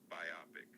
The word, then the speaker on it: biopic: It's biopic with the emphasis on the op.